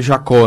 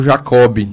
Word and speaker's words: Jacob: verdade né então ele ele escreve com b no final e no português correto a pronúncia ele Jacó né como seu está falando e mais acabou que na família se pronunciou Jacob né aí ficou Jacob